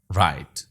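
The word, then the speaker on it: write: इन तीन अल्फाज को गौर से देखिए, थम, नो, राइट। थम में बी, नो में खे और राइट में जी साइलेंट है।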